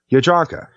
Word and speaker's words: Jadranka: She too is a J, but because her name is Croatian, it's pronounced Y. Her name is Jadranka.